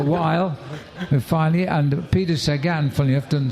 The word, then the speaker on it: Sagan: We had a long time mispronouncing Jamaluddin Abdul-Japarov. It took a while, and finally, and Peter Sagan, funny enough, doesn't sound a bad name, but we asked Peter how to say it. He goes, Sagan.